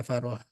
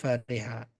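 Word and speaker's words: فَرِحَ: dari mana dari kamus kalau Fariha ini enggak bisa dibaca faroha Ini salah faroha bacanya Fariha karena dari kamus itu memang dia seperti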